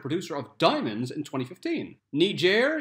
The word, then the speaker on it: Niger: Niger, yes, that's how you pronounce it, has a tree called the Lonely Tree of Tenere.